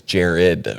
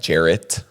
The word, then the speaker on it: Jared: like you do know my name is Jared right with a d because she always pronounces it like Jarrett like with a t and she's like yeah